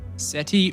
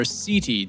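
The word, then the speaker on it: setae: in short sensory hairs known as seti or siti depending on who you talk to.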